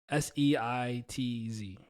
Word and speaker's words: Seitz: I'm Seitz. That's how you say it.